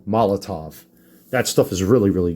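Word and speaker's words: Molotow: the Molotov stuff, and it's pronounced Molotov, not Moloto, Molotov.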